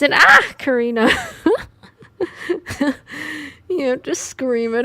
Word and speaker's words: ocarina: It's an ah Karina, you have to scream it every time you say it.